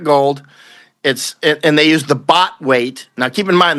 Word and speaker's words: baht: Like a baht is basically about roughly a half a troy ounce, roughly, right? Is a bot, right? And that's spelled BHAT. We're not talking about bots.